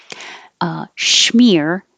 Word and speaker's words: schmear: Schmear, spelled this way or this way, sounds the same but with a sh sound.